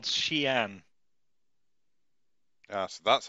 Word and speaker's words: Xi'an: To a city called Xi'an. Yeah, so that's how you pronounce it, because you sent me something and I'm pretty sure that's how I was pronouncing it in my head. Xi'an. Xi'an.